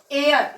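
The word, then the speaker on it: heir: एयर, ये हेयर आप लोग सोचेंगे, लेकिन यहाँ पे क्या है, यच क्या है, इसमें साइलेंट होने के कारण इसमें एयर हो जाएगा।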